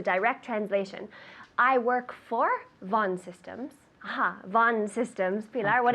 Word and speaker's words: Vaughan: translation i work for von systems von systems pilar what is that in spanish good everybody says valgen in spanish but in english von von and on top of